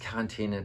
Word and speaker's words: Quarantäne: hassen ich habe recherchiert das wort kommt bei uns im sprach gewordenen aus dem französischen und als ursprünglicher heißen lücke hand an und deshalb ist quarantäne tatsächlich die richtige aussprache kleines erlebnis was ich